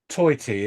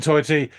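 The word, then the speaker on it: Tajti: warl uh guitar noises it says um Steve toyy it's actually written T AJ TI but I read in an interview online that they actually said it's pronounced toy is in t t y okay so stepen toyy um keyboards programming uh Mark uh AG rhythm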